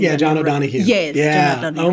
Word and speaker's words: John O'Donohue: John Donahue. Who I'm not pronouncing. Yeah, John O'Donohue.